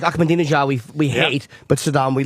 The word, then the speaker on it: Ahmadinejad: I just wanted to say Ahmadinejad and prove I knew his name. I just wanted to sound smart. You pronounced that correctly.